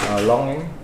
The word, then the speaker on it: longan: Longing. Longing? Longing. Longan.